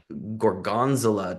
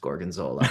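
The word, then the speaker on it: gorgonzola: a restaurant and I was like, "Wow, this gorgonzilla cheese sounds like a lot." And she was like, "It's pronounced gorgenola."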